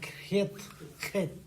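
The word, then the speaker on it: ח: and it's pronounced very in a gruff way. यो चाहिँ अलि खस्रो तरिकामा खेत।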